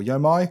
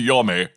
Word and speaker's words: Yomi: No, I was just genuinely surprised because so we're talking about Trek to Yomi or Yomai or Yumi. No, I prefer Yomi. Yomi?